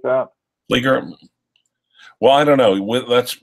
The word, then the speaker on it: Flieger: Flieger? Well, I don't know. That's really a question that should be given to Caseback Watches channel, because he is German. But I've always heard it pronounced Flieger.